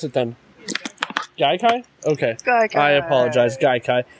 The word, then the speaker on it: Gaikai: How do you pronounce it then? Gaikai?